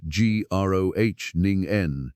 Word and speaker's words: Groningen: So a team led by Professor Mladen Popovic, pronounced Mlah Den Popovic, at the University of Groningen, pronounced Groningen in the Netherlands, set out to build something better.